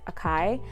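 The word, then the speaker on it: açaí: is an ascent um strawberry acai or other people pronounce it akai um and then there's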